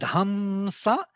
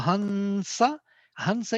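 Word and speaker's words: हंस: dot on the top, So that hamsa or hansa is totally proper pronunciation. You don't need to be hamsa. It's not m. It's actually nasal sound associated with s, dental n.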